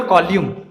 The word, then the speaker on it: column: है वह है वर्टिब्रल कॉल्यूम, COLUMN लिखते हैं और N साइलेंट होता है, और इसलिए यहाँ पे जब N साइलेंट होंगे कॉल्यूम में तो हम क्या बोलेंगे? Vertebral कॉल्यूम।